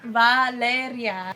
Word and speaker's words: Valeria: You know how to roll your R's. Say Valeria. Valeria.